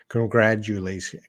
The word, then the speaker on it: congratulations: words congrats you congrat congrat that t will make a d sound congratu congratulations congrat and i can't